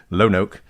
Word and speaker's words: Lonoke: So by the way, if you live in Lonoke, I think is how we decided to pronounce it, Lonoke, in Arkansas, just know that this DA needs